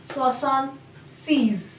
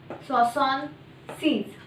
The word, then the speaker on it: soixante-seize: so let's begin begin number 76 will be pronounced as saon C's saon SE so how this number has been formed so